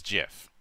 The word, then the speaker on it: GIF: also why I why I pronounce Graphics interchange format with a G and not a j like the creator of that format claims it should be oh they say G GIF instead of G yeah